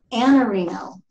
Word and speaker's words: Iannarino: Our guest today is Anthony, and I'm going to say Iannarino. That's right? Is that how pretty I pronounce close. Your name? Pretty close. Iannarino. Iannarino.